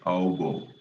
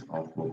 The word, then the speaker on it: Aufbau: It's actually pronounced as Aufbau. Aufbau, but we usually pronounce it as Aufbau principle, right?